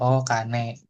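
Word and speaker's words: お金: Kalau mau nyebut duit kane ya tambahin O the planet O hiragana aja O kane kalau mau nyebut ee emas ya kan emas gold ya kan berarti kanya doang.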